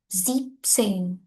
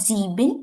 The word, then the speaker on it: siebzehn: Siebzehn. Not sieben, you will say siebzehn.